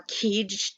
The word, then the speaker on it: kedge: One of them was a little anchor called a kedge, or keege, depending on how you pronounce it.